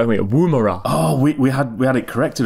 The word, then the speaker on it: Woomera: we've got to get this pronunciation right, haven't we? Woomera.